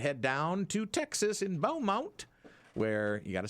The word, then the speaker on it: Beaumont: The Danny Adjusted Radio program as we wind through our baseball and head down to Texas in Beaumont, where you got to say it like that.